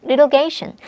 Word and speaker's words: litigation: 자, litigation, litigation. 자, 여기 t가 모음과 모음 사이에 쓴 발음이 t가 아니라 lit 이렇게 바뀌죠. lit로 바뀌어요.